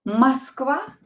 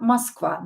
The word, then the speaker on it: Москва: Это Москва. Это Москва. Москва. Это Москва. Is this Moscow? Это Москва. Это Москва. So O is not stressed. We will pronounce it as A.